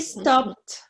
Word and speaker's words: stopped: Aquí sí pronunciamos la ed porque termina en T. ¿Ok? I stopped. Stopped. Aquí no.